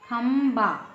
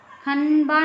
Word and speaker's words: खंबा: है अब इसको देखेंगे ख में अम की बिंदी है ब अय जो ब है कौन से वर्ग का है यह प वर्ग का व्यंजन है ब तो इसमें जो पांचवा वर्ण है वह है म इसमें म निकल रहा है म का उच्चारण निकल रहा है खंबा खन बा नहीं निकल रहा है खंडा नहीं निकल रहा है है ना खंबा ठीक है वैसे कंगी